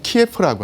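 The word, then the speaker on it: 키예프: 아, 그리고 그 중심지가 오늘날에 그 키유, 그니까 우크라이나로는 키유고 러시아 발음은 키에프라고 하는데 여기가 바로 동슬라인들의 그 중심지였습니다.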